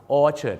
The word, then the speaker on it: orchard: ว่า orchard Road ครับ orchard นะ ครับ ไม่ ใช่ อชา ที่ จริง แล้ว ยัง